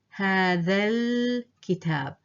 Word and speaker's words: هذا الكتاب: So you see I'm jumping or dropping these 2 letters. I'm not pronouncing them. I'm not saying هذا الكتاب. No, I'm saying هذا الكتاب. I've dropped both letters, and that way you sound more natural.